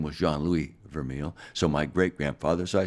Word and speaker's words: Vermeil: Well, the catalyst was admiration from my dad, Jean-Louis Vermeil, exactly pronounced Vermeil.